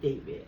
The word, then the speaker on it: D4VD: So he spells it D4 V D but he pronounces it as David as his name is David Burke.